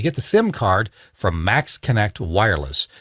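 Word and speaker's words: Maxxkonnect: it works for us it'll work for you max connect check it out i've got one of these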